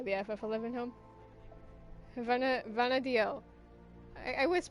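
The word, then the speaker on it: Vana'diel: Benadio. I was pronouncing it right.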